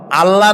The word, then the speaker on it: আল্লাহ: বলেন তো, আল্লাহ নয়, কিন্তু আল্লাহ হচ্ছে অশুদ্ধ, শুদ্ধ হচ্ছে আল্লাহ। বলার সময় মুখটা গোল হয়ে যাবে।